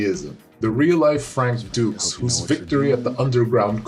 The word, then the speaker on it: Dukes: martial artist frank dukes pronounced dukes like butcher dukes his story was originally